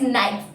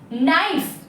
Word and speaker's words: knife: Here letter K is silent. So we don't have to read this word as knife, but we have to read this as knife because letter K is silent here.